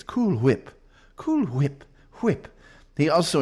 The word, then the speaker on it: Cool Whip: When you when you say cool whip, you don't pronounce the H. And you know, one of them was pronouncing the H. It's cool whip.